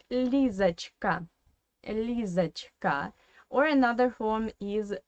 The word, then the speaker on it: Лизочка: And if you listen carefully to my explanation, you already know that this O in the middle should be pronounced as A. Because obviously, again, it is in an unstressed weak position.